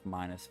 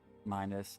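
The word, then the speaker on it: Minas: the continent in the Royal capital city of minus Pub minus m-i-n-a-s nflu f-e-l-e after the recent passing of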